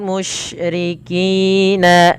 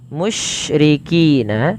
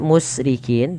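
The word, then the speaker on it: مشركين: Kemudian walal musyrikina ay yunazzala, musyrikina ada shin ya, di sini ada huruf shin. Hati-hati dalam melafalkan huruf shin, tidak boleh terbaca dengan huruf sin teman-teman. Jangan dibaca musrikin tapi dia mush.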